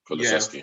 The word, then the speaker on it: Kulusevski: I think Kulusevski, is that how to pronounce it? Yeah, Kulusevski.